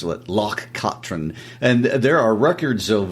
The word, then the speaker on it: Loch Katrine: And I would like to point out that pronunciation was taught to us by our good friends Hamish and Nancy in Scotland. Yes, we were mispronouncing it for a while. They corrected us. Loch Katrine.